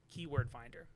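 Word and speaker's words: KWFinder: place to do that is KW Finder, Keyword Finder, but it's spelled KW Finder.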